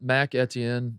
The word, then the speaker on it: Mac Etienne: Should we talk about Mac Etienne? That's how you pronounce his name.